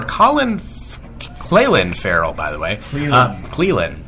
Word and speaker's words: Clelin: Cleland. There you go. Good pronunciation. That's actually the right pronunciation.